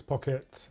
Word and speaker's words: Pocket: Um, Alex, if I can just get your name and title, please, and how we spell it. Yes. So, it's Alex Pocket.